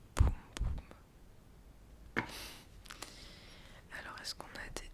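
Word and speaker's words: Bum Bum: Je viens de voir que ça se prononce poum poum.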